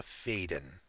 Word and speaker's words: Faden: Alyssa Faden. Sorry, I got to pronounce that correctly. I asked her once, and she did tell me it's Alyssa Faden.